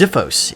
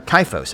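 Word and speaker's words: xiphos: at your disposal um kaifos is a type of greek sword and i remember that because it's the chi rho so the x is pronounced as a k ancient greek tip of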